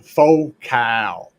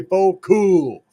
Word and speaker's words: Focal: Did I not say faux cow? Or are you trying to say faux cool? It's spelled focal, damn it. And you know what? If you're trying to create a focal point of sound, focal would work, right? It's faux cow because people want to be fancy.